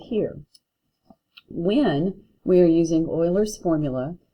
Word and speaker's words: Euler: easy to pronounce because we used to have the Houston Oilers and that's how you say his name boiler and so Euler is and you see